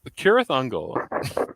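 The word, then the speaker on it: Cirith Ungol: fault i'm sorry uh but it's uh kirathungal and i feel like an pronouncing it that way uh this cover you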